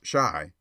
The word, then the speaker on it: Chi: boy and printer beau c-h-i pronounced shy by the way is the argot for